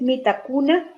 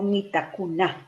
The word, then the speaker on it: Mitakunah: La pronunciación del mantra Mitakuna La prononciation du mantra Mitakuna es acentuada en la última sílaba. c'est en mettant l'accent sur la dernière syllabe. No es Mitakuna, sino Mitakuna.